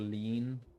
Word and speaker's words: lien: Oh, you can pronounce it Leon or Lean.